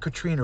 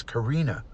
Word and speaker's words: Karina: name wrong it's could it's not Katrina it's Karina and she corrected her